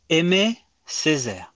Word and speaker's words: Aimé Césaire: Oh, Aimé Césaire. So it's spelled Yeah.